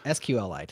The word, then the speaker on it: SQLite: sql light or or as it's actually called well maybe i did say it right sqlite i don't know i always say it wrong uh sqlite there you go that's the correct way right those got sidelined